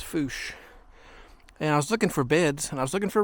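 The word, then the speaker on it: Fourche: with you here's the bou River looks like forche but it's actually pronounced fos and I was looking for beds and I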